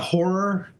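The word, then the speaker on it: HO99O9: Uh horror, you know, spelled with the nines. HO9909.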